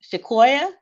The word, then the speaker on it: Shaquoya: Is it Shaquoya?